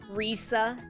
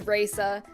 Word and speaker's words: Reisa: I fear a lot of people will say uh Rea and that pisses me the off. Um so it is Raa.